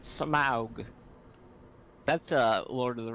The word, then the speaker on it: Smaug: It's pronounced Smaug.